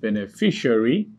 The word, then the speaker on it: beneficiary: Then you have beneficiary, B-E-N-E-F-I-C-I-A-R-Y.